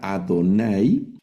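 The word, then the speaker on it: יהוה: cuando leamos en hebreo, es decir, esta palabra no dice Adonay, pero al leerlo vamos a leer llevarjejá Adonay deishmereja es eh y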